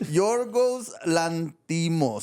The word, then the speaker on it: Yorgos Lanthimos: Yorgos Lanthimos.